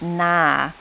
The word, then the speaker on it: near: just the pronunciation so it's near n-e-a-r but we would say it nah nah a comparative form